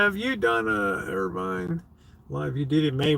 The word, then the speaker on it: Irvine: it right it's pronounced Irvin Irvine Irvine no they pronounce it Irvine here uh Irvin would be no e on the end this is Irvine Kelly